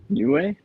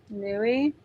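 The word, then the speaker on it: Niue: How do you spell it? Is it New Way? N UI E. Newi and looking it up. Okay. Newi.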